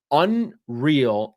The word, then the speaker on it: UNRL: But Unreal is a is a brand uh an apparel brand that I'm a huge fan of. It's super high quality stuff. UNRL pronounced unreal is the the brand of apparel that they have cooperated with.